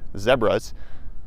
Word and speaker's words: zebra: Those are some zebras, or as they call them here in South Africa, zebras. Rhymes with Deborah.